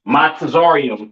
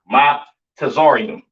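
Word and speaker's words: מצרים: Uh, Mizraim, all right, aka your Egyptians, all right, pronounce Matazarium in the Hebrew, Matazarium in the Hebrew, all right.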